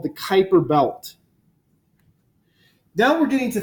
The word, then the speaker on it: Kuiper: the name Piper is if we were to use the Dutch pronunciation which was his heritage it would be deployed for God so if the Kuiper belt the Kuiper belt is a bunch